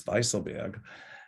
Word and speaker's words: Weisselberg: So, you know, Weisselberg, she says, actually in German it's Weisselberg.